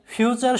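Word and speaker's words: future: তো ফিউ এর মধ্যে আছে একটা কনসোনান্ট প্লাস ইউ, তার মানে ইউ এর উচ্চারণটা হবে ইউ, তাহলে ফিউ। তারপরে দেখো যে TURE এর উচ্চারণ হয় চার, তাহলে আমাদের উচ্চারণটা কি আসতেছে ফিউচার, ফিউচার।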